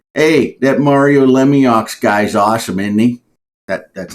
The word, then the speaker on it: Lemieux: Mario Lemieux. Yeah. Or if you say Mario's name in Pittsburghese, it's hey, that Mario Lemieux guy's awesome, isn't he?